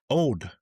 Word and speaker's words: Auld: And you were 99% of the way there with the name of it, with the pronunciation. It's Auld. What did I miss? Old.